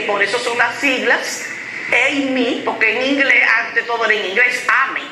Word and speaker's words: AME: pero aquí es EMI, porque es inglés las siglas, AME, se pronunciaba todo en inglés y ha seguido con EMI, EMI, y aquí hay una mezcla fuertísima, sí.